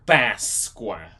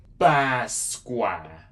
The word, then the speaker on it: Páscoa: Yeah, so this is how you say Easter. Páscoa. Páscoa. So again, this is more stronger and open sound. You're not gonna say it like a regular A. And even though you might think it's a regular A, it's still different because it's still like a longer one.